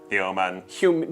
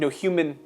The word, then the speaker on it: Humin: Human. Humin. Human. Spelled with an I. Humin. Instead of a human, it's a humin.